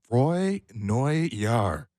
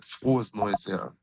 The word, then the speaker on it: Frohes Neues Jahr: Dennis, we wanted to start by saying Froy Neu Jahr. How was that? Wasn't that bad? Frohes Neues Jahr. Okay, yeah. Is how you say it.